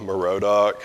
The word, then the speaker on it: Merodach: His name means man of Marduk, and I point that out because in the Bible he's called, it looks like evil, Merodach is how you pronounce it in English.